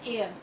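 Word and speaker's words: heir: जाएगा अब देखिए एन एयर एयर माने क्या होता है उत्तराधिकारी है ना तो यहां प एच जो है वो साइलेंट है इसलिए हम यहां पर एन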